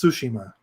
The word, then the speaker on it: Tsushima: and I think it's Tsushima. Does that sound right instead of Tsushima? Tsushima. So you have Yep. Su, Shi, and Ma would be your So it would be syllables.